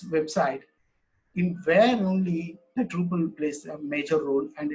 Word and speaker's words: Drupal: It's a Dutch word, Drupal. It's mean that how it's spelled. Truppel.